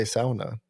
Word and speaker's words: sauna: Say, how do you pronounce sauna? Sauna. That's how you pronounce it. That's the Finnish. It's a Finnish. They invented it. That's how they pronounce it.